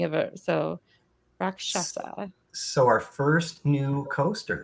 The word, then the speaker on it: Rakshasa: Wrath of Rakshasa. I did it. I said it right. I did it. We've been practicing. We received a phonetic spelling of it. So Rakshasa.